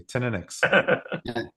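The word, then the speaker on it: Teaninich: Teninix.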